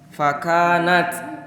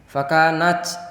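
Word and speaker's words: فكانت: Jangan fakanat, tapi fakanat. Ada sedikit desiran tapi tidak berubah menjadi C.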